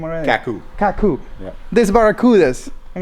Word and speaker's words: Kaku: we're right here at kakur is that how you say it yeah it's Kaku kak Kaku it's the Hawaiian name